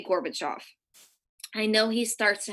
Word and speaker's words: Gorbachev: I mispronounce his name I know I did I think it's Gorbachev sorry but we say Gorbachev I know he starts